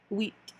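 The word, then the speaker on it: huit: 8 is another one that's so wheat. So like wheat bread, we're gonna think of wheat, almost like sweet. See how W-E-T, the pronunciation you're trying to help us out is? Take the S out, you got wheat. So 8 is wheat.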